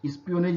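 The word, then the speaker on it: espionage: चूंकि मैंने आगे इसके पहले वाले शब्द में चर्चा किया था जासूसी का, तो स्पियोनेज, स्पियोनेज इसका उच्चारण होगा।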